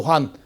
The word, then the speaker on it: 환: 아까 얘기했던 황국은 원래 환이라고 읽는 데 나오죠. 환.